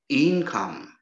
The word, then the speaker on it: income: Income is a noun too. It is stressed on the first syllable.